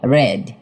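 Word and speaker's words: read: Past টেন্সে ঋর উচ্চারণ হবে না। হবে ভার্বের সেকেন্ড ফরম রেড। আমরা গল্প করেছিলাম।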